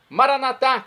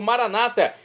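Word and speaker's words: Maranatha: no dialeto de Jesus maranat como dizemos nosos católicos ou Maranata como dizem nossos irmãos separados os evangélicos ou protestantes não importa pronúncia o significado é o mesmo vinde Senhor Jesus um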